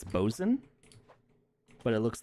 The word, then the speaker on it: boatswain: It's one of those weird nautical terms where you don't say it the way it's spelled. How do you say it? I think it's bosun, but it looks like boatswain.